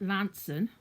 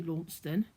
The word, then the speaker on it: Launceston: we launch them as sometimes call it Lansing which is l-a-s-o-n but we do have a laugh at some of the people that try and say Launceston because it's not said as as it is spelled um but uh yeah